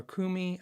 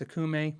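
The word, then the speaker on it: okoume: I might say akume or kumi. I think it's pronounced akume, but it ends with an E.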